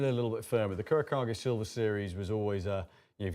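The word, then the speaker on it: Kurokage: Kurakage. Think of it in Japanese, how they pronounce it.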